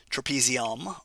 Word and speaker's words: trapezium: trapezium rhymes with thumb and there is the